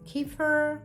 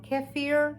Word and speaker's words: kefir: I have my um kefir or keir depending how you say it.